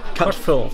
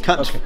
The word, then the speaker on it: Cutforth: Cutforth. Cutforth. Get cut and forth.